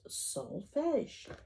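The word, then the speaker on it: solfège: ti together they are called Solfege pronounced Solfege whether you play these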